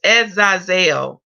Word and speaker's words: Azazel: Okay, that was probably when I was playing the speaker, but it's pronounced as Azazel.